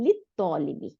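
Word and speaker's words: لِلطَّالِبِ: রুমালটি লি লিত তলিবি, এই যে লিত তলিবি, লাম উচ্চারণ করব না, আলু উচ্চারণ করব না, তাই না? তাহলে আমরা এখানে হচ্ছে লিত তলিবি, ছাত্রটির জন্য, তাহলে ছাত্রটির রুমাল, এই রুমালটি ছাত্রটির।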